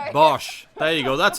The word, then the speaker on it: Bosch: BOSCH. There you go. That's how to pronounce it.